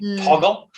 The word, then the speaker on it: Toggl: Okay, Toggle is an app, and that's spelled Toggl.